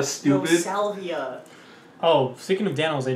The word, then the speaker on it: salvia: It's pronounced saliva, stupid. No, salvia.